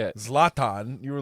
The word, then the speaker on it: Zlatan: You pronounced both of his names wrong. First of all, How do you say it? Zlatan.